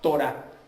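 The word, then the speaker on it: תורה: Y nomos es tomado de la traducción hebrea que se pronuncia Torah.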